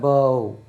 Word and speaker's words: bow: இதை வந்து அழிச்சிடுமா, இதை வந்து ஓ என்று உச்சரித்தா பவ்.